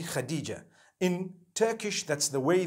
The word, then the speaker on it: Khadija: I would say Hatice for that. No, it's actually Khadija.